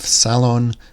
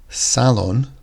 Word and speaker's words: salon: sound that we're making salon has the emphasis at the start could be some where